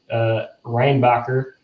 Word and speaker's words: Reinbacher: Both took vendors in the first round last year, and I'll pronounce his name correctly, unlike Carey Price. Reinbacher was taken by Montreal in the first round last year.